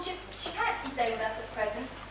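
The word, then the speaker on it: Szczepansky: Frying Pan Skin? No, Shapansky. S-Z-E-Z-E-P-A-N-S-K-Y, I think. You call it Shapansky.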